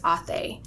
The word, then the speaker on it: Ate: we confront them is authei so it looks like the word eight okay if you ate something but you pronounce it as a does that mean like